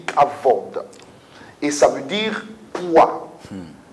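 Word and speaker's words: כבוד: Alors ça s'écrit kabod et ça se lit kavod.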